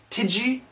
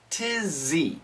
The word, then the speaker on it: tizzy: Pronunciation has some, connect these sounds, has some, website sinna, tizzy. Tidgy? No, tizzy, tizzy.